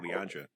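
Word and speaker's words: Lilandra: I think that's pronounced it, Leandria.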